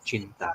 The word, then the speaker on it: cinta: So Indonesian pronunciation, is Sinta. Cinta.